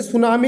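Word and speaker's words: tsunami: ठीक उसी प्रकार दोस्तों जैसे सुनामी लिखते हैं आप तो T सुनामी लिखते हैं, तो यहाँ पर भी दोस्तों T साइलेंट होता है।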